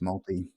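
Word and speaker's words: Māori: It's not Maori. It's multi. It's a what? You say multi, not Maori. Wow, multi. Multi. Multi. Okay, cool. It's the way they pronunciation of the R's.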